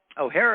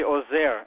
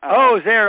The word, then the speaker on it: Ozair: O'Hare, are you with us? Hi, Sam. It's actually Ozair. And Ozair.